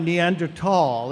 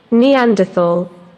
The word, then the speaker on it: Neanderthal: Neanderthal.